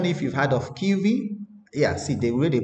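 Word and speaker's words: Kivy: So if you go here now, okay, let's search for, it's called Kiwi, right?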